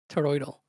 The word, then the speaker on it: toroidal: Wait, no, seriously, how do you say it? toroidal toroidal? That's it? Yeah, it's it. There's no there's no deal at the end. It's it's just dal.